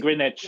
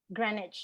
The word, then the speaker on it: Greenwich: And Greenwich as well. Greenwich. Yeah. It's yeah. it's what Greenwich, Americans say as well.